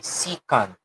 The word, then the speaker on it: secant: Ang tama pong pagbigkas po dyan ay secant.